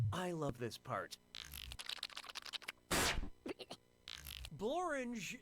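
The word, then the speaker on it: Blorenge: I love this part borange is a real place and it really rhymes with orange alright if you visit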